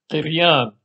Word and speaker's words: قريان: سنة 1860 أن اسم القرآن سرياني الأصل ويلفظ قريان بكسر القاف بالإمالة نحو الياء كالإيه اللاتينية وبدون همزة، وقد أضيفت الهمزة في المرحلة الخامسة لتدوين القريان.